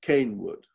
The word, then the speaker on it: Kenwood: quite interesting is that clearly at that time kenwood was actually being pronounced cane wood and you ask is